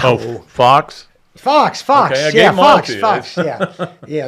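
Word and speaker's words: Fuchs: fox fox fox yeah fox fox yeah yeah not spelled like Fox but pronounced like Fox uh I'd called uh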